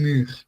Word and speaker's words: muur: And the R is not pronounced like R, you know, it's R. Yeah, it's like rattle it, yeah, on the back of your throat, like your, how to